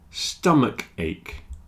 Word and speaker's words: stomach ache: and finally stomach ache stomach ache architect and chemist they have a CH which is pronounced like a k stomach a stomach a